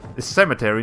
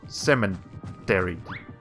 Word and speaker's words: cemetery: but no there's no there's no n in cemetery it's just it's just cement cemetery not cement dairy i i should probably